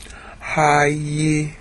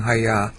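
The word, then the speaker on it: הָיְתָה: Hayita, actually, the last syllable is stress. That little diacritical mark that's going off to the left is an accent mark. Hayita. Alright, so that's the Cal Perfect. That's the Cal Perfect of Haya. And I didn't pronounce it right, I was just saying Haya.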